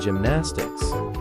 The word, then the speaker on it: gymnastics: Pronounce gymnastics as dʒɪmʻnæstɪks, with the emphasis on the first syllable, gym. Use in a sentence. 1. She has dedicated her life to training and competing in gymnastics.